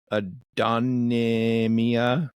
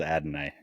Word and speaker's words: Adonai: a rookie red receiver I'm gonna try to pronounce his name Adonia Mitchell oh Adonai Mitchell Adam okay I'm you said it right I'm not GNA try I believe it is Adonai yes and then they're tied end their starter